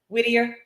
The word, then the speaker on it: Whittier: um we have whiter on the line I'm pronouncing your name correctly last name correct Whittier yes yes I try to make sure I